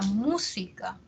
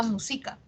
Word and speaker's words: música: la música la música no decimos la música quizás alguien que tenga una lengua que sea super grave que sea una lengua que el acento siempre está en la penúltima probablemente si aprende una nueva lengua y es el español le cueste no le cueste y diga musica probablemente pero no es porque